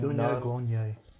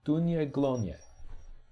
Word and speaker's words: Daoine Gloine: No, it doesn't sound like it's spelt in English because it's not English. Daoine Gloine. Dunye. Dunya Glonye. Okay.